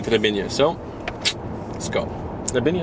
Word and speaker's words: Trebinje: Trebinje, is that how you say it? Exactly. Okay.